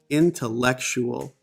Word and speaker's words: intellectual: the two stressed syllables here there's a comma before in and an apostrophe before lek so the stressed syllables are in like intellectual intellectual this is important